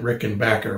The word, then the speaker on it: Rickenbacker: regular rickenbackers or rickenbackers i'm sorry i'm you're gonna catch me saying it both ways i'm sure i think they pronounce it rick and backer but oh well these